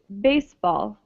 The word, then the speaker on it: baseball: my hurt okay uh the pronunciation is baseball okay okay good and so it's different from in spanish right where in spanish the syllable the second syllable is stressed and the same with